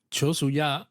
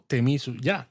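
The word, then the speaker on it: 手水舎: Pues hay un pabellón de purificación con agua que se suele llamar Chosuya o Temisuya. Exacto, el Shozuya, Temisuya, al final es lo mismo, diferentes pronunciaciones, digamos.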